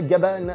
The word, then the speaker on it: Gavan: ne le sauraient pas gabal c'est la prononciation japonaise de gabin parce qu'on en effet